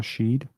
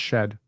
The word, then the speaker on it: Shead: shed uh um so a lot of people have said Jamal sheid it's it's not sheid um Jamal shed highlights I believe it's shed I've heard him called